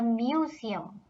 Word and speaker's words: Museum: And last of all is the museum, written like this in German but pronounced das Museum.